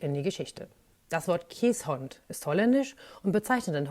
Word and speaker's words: Keeshond: ich jetzt mal loswerden der Name käshond spricht sich eben käshond ganz falsch ist die Aussprache kä Hound oder noch schlimmer kieshound ein haound ist ein Begriff aus England der Jagd und Meutehunde wie biegels bezeichnet und noch viel fürchterlicher ist die Aussprache kisont die ich schon mehrmals aus Amerika gehört habe das ist sowas von falsch kä hont heißt das